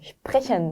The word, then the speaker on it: sprechen: 네, 슈프레션 많이 연습해 보시고요.